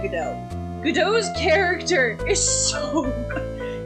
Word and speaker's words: Godot: Godot's you pronounce his name Godot.